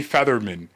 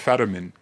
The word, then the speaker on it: Fetterman: I say Featherman instead of Fetterman. George, no. IT'S FETTER IT'S FETTERMAN.